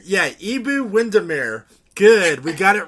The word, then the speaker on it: Iabou Windimere: Iabou Windimere. Yeah, Iabou Windimere.